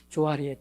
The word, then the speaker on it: 조해리: 사람들은 이것을 보편적으로 조해리의 창이라고 말하는데요. 이 말은 조셉의 조와 그 다음에 해리의 해를 따서 이제 붙인 명칭입니다. 해리가 하리라고도 이제 발음이 되기 때문에 어떤 분들은 조하리의 창이라고도 말을 합니다.